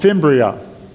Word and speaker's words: fimbria: have these things called fimbria see how I do that that's how I remember how to pronounce it literally like fingers they grab an egg